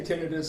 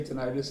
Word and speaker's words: tinnitus: According to the dictionaries, either one's accepted. Either pronunciation. I say tinnitus. Some people say tinnitus, even in this country. So okay. So either one's acceptable.